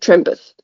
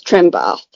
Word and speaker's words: Trenbath: He said Trenth and it's Trenbath.